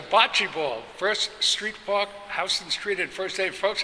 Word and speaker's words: Houston: Folks, if you come to New York City and you say Houston Street, you're going to let them know right away you're from out of town. It's Houston Street, spelled the same way, but it's Houston Street.